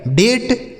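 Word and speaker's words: date: लेकिन अगर ए के बाद आर के साथ इ लिखा हो। किसके साथ? आर के साथ अगर इ लिखा हो तो उसे हम ए पढ़ेंगे। ठीक है? ए या पढ़ेंगे।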